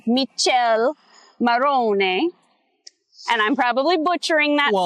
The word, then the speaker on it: Michele Morrone: you look at it, it looks like his name is Michele Morrone. Okay? No, it's Michele Morrone.